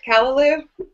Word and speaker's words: callaloo: callaloo with saltfish that how to say it callaloo yeah that's it that's what I've been told